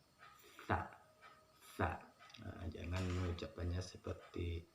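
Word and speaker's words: ث: Nah, huruf sa ini ujung lidah bertemu dengan ujung gigi dan sedikit dikeluarkan. Sa, sa.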